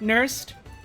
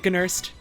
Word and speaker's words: Gnursed: The G in your username is silent. It's pronounced like nursed, but I like calling it Gnursed.